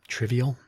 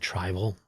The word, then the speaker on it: trivial: She said uh um trivial, but she pronounced it tribal.